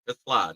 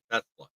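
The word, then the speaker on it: TeSlaa: We know where Tesla, let's say it right, it's Isaac Tla, not Tesla.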